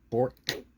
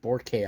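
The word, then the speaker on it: Bourque: The Brian Trottier, the Ray Bork, not Borke, I've been told Bork.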